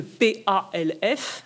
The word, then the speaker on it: PALF: appelé le PALF, le P-A-L-F, hein, c'est un acronyme, on peut après tout le prononcer, le PALF, qui est cette idée